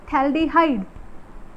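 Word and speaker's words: phthalaldehyde: हैं, इसको बोलते हैं थैल्डिहाइड, थैल्डिहाइड। ये जो पीएच होता है ये साइलेंट होता है, कई सारे स्टूडेंट बोलते हैं पर थैल्डिहाइड ऐसा नहीं होता, थैल्डिहाइड बोलते हैं इसको, पीएच इज साइलेंट हेयर।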